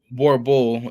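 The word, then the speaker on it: Boerboel: The Borbal, pronounced Borbul, is a breed from South Africa, which is why the dog is sometimes known as South African Mastiffs.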